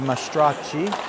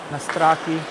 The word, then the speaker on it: Mastracci: toward the net by Mastracci. Well, Mastracchi. Anyway, it's a good Italian name. Usually I pronounce the Italian names with the Italian pronunciation.